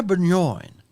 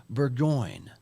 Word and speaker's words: Burgoyne: me grab this video Katrina benjoin Burgoyne excuse me the French pronounce pronunciation I tried on I tried